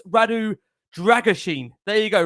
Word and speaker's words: Radu Drăgușin: Yes, another pronunciation of this bloke's name for the 150th time. I've now been informed it's Radu Dragusin. There you go, Radu Dragusin, I understand.